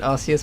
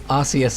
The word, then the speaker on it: Arceus: And yes, I pronounce it Arceus because that's how it used to be pronounced before everyone started giggling. So, Arceus it is.